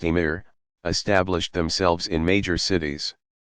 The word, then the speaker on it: amir: Not long after Arab troops began to occupy the Iberian Peninsula, Muslim princes, called amirs, literally commanders, pronounced emir, established themselves in major cities.